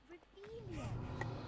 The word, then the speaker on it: Revelio: Ugh, Revelio.